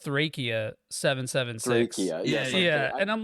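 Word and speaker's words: Thracia 776: just think it's a funniest side apparently it's pronounced trachea 776 yeah yeah and I'm like yeah yeah Dracula's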